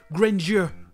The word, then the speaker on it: grandeur: l'autre truc intéressant c'est la prononciation en anglais du mot grandeur ici les principes granger mais c'est très souvent prononcée grainger comme s'il y avait le songer au milieu grainger et avant de quitter